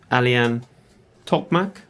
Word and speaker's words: Alihan Tokmak: show today we have a very great guest a lien top Mac yes correct you pronounce it yes I've never I've known nem